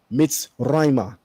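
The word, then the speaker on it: מצרימה: It's pronounced Be'ivrit Mitzrayma. There would be a kamatz underneath the letter mem, Right. and together with the He, that means towards.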